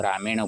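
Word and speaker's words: रामायण: उसको रामयण बोलते हैं राम के साथ इन एक प्रत्यय जुड़ने पर रामन होना चाहिए था लेकिन न का ण क्यों होता है क्योंकि र उच्चारण होने पर न का न हो जाता है उसको न सिद्ध में न का ण होता है तो राम के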